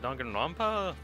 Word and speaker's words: Danganronpa: I can never remember how to pronounce it. Danganronpa.